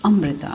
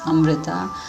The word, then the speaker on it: Amrita: It's Amrita. Amrita is a word again from the Sanskrit language, which literally means nectar or immortality drink. So again, I'd like to clarify the actual pronunciation. It's Amrita.